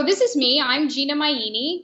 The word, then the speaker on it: Maini: I'm Gina Maini. My last name rhymes with linguini, so easy to remember that.